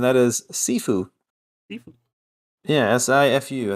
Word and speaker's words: Sifu: Yeah, Sifu. I think it's pronounced Sifu. I would assume Sifu? it is. Yeah, it's like seafood, but without the D.